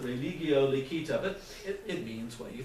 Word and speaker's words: religio licita: The Latin that I learned was classical Latin, or really better, Germanic Latin, because that's where I grew up. And we would pronounce it religio licita, but it means what you think it means, licit religion.